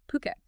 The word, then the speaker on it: Phuket: It's puket p or st just on the poo, not uh not fuket or anything like that. Okay, puket.